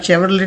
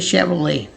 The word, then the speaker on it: Chevrolet: बहुत ही आसान है आपके लिए, मैंने तोड़ के लिख दिया है, शेवरले, शेवरले, शेवरले। तो इसे आप शेवरले नहीं पढ़ेंगे, आप इसे पढ़ेंगे शेवरले।